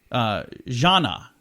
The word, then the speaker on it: Jnana: Her winning word, by the way, was Jana. Says rhymes with banana.